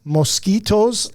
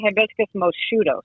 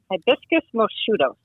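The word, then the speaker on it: Hibiscus moscheutos: name here a minute hibiscus and is it pronounced mosquitoes as in the insect what is it Laura that would be that would be pretty cute but it's actually hibiscus mudos there you go okay good that's what I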